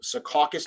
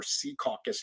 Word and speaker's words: Secaucus: we're going to be in an area called secaucus new jersey or sea caucus new jersey depending on how you say it